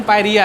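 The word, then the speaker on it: pyorrhoea: तो हेडिंग डालो पायरिया, ठीक है, बोलोगे पायरिया ना, इंग्लिश में लिखे हैं पायरोहिया। काहे बोलता है डायरिया हो गया, मेडिकल में ऐसे बोलते हैं, और इसका प्रोनाउंसिएशन पायरिया है, ठीक है।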